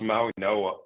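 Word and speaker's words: Mauigoa: Maui Go Maui Goa. Is that how you say his name? Maui Goa. Maui Goa. I think it's Maui Noah. Maui Noah is how you say Maui Noah.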